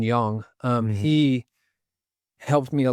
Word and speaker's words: Yang: And then Jason Yang, I say Young, I pronounced it wrong. Let me say it right. Jason Young, Mhm.